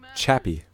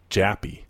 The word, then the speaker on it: Chappie: Say his name. Chappie. Okay, because you're saying, like, Jappy. I mean to say Chappie.